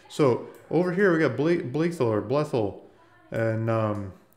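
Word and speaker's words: Blytheville: So over here we got Blethel or Blethel and Blythel, like the locals say it amazingly well.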